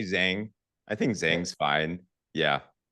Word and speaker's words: Zheng: It's almost like, but.